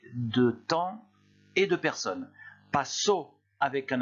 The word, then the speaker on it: pasó: Avec accent écrit, vous insistez sur le O. Ça donne passo.